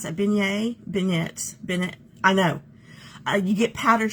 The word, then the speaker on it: beignet: How do you pronounce that? Beignet. I know. You get powdered sugar all over you. Beignet.